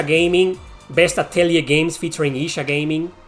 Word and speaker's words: Isa Gaming: best aell games featuring Isa gaming it's pronounced Isa gaming not Ira gaming most hated jerp ever